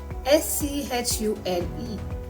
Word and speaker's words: Schule: Similarly, SCH is pronounced as Sk in English, but it is Sch in German. For example, SCHULE is Schule.